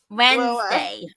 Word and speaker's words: Wednesday: Wednesday. Whenever I spell spell it, I always think of the think of saying it Wednesday. Wednesday.